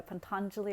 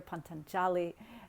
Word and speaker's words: Patanjali: thousands of years old compiled by Patanjali or Ponton jolly depending on your pronunciation and they are here